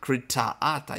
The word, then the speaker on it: Critata: Critata. You gotta put the accent on the double A's like Pata.